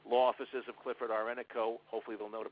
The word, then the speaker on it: Ennico: the phone they'll say Law Offices of Clifford are renico hopefully they'll know to pronounce my name correctly you know god forbid